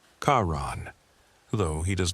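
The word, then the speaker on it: Charon: Even if one has never been entirely certain of his name's proper pronunciation, it is, for the record, Kaon, though he does not strike one as the sort who would offer corrections.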